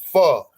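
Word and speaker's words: pho: a a a f Fox uh I hate to say it wrong I always say it wrong she say you saying it wrong it ain't F it's fo it's F whatever and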